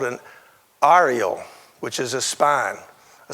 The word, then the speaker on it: areole: Cactus have something called an areole, which is a spine, a central point where it can grow from. And it's pronounced A-R-I-E-L.